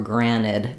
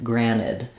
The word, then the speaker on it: granted: t out granted or sometimes when words have n in American English in the middle we will drop that t so some people might say take it for granted granted um that is an acceptable pronunciation I think it's a little clearer to use the tea in this particular word granted um it's more